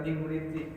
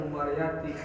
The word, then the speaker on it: Imriti: Saya tahu namanya doang Imriti masih mending bacanya benar Imriti. Ini mentang-mentang ada ain, ada mim, ada orang bacanya Umariyati.